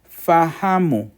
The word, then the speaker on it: fahamu: Fahamu has 3 syllables.